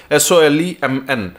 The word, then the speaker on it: solemn: option रो अछि solemn SOLEMN N will be silent तार pronunciation कला बेले आपन कहबे solemn what is solemn formal